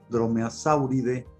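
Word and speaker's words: Dromaeosauridae: Y aquí vamos a decir que la terminación AE se pronuncia E, es aviale, dromeosauride, trodontide, pero es importante de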